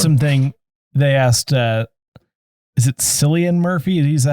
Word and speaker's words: Cillian: was something they asked, is it Cillian Murphy? Is that how you say his name? Yes. Cillian Murphy.